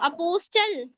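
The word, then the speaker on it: apostle: पढ़ते हैं आप इसको अपोस्टल टी पढ़ते थे जी पढ़ते थे जी अपोस्टल ब्रिस्टल ब्रिस्टल नहीं टी साइलेंट हो जाएगा।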